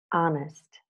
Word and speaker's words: honest: pardon me and okay in the following words the H is mute our honest honor air herb and herbal now with these two